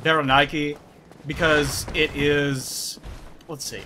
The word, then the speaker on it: Berenike: is a Berenike knight, or a Berenike, or, you know, people pronounce it different ways. I call it Berenike because it is...